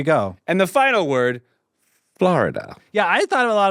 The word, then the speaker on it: Florida: You say Florida? No. I have somebody point this out to me. I say it only 2 syllables.